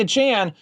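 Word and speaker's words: Achane: in the second round Devon achan or a chain or however you want to pronounce it because I've heard it pronounced three different ways including achan which he told reporters on video earlier this season that that's what his last name was so whatever at this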